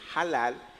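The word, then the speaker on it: הלל: hebrea que es halal, o en castellano diríamos halal, pero como la H no es muda en el hebreo, se pronuncia halal y significa alabar, exaltar, celebrar.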